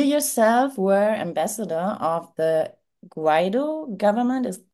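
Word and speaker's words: Guaidó: Well, you yourself were ambassador of the Guaido government. Is pronunciation correct?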